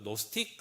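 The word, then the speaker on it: Gnostic: 이제 그 나는 안다 그 노스틱 학파라고 이야기도 하고 하는데 영어에서이지가 묵음이 되는 거죠 그렇게 돼서 우리가 생각하는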